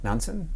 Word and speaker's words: Nansen: rutin MS Fred nanson nanson is how they pronounce it uh which started off